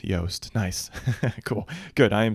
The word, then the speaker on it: Yoast: It's a soft Yoast.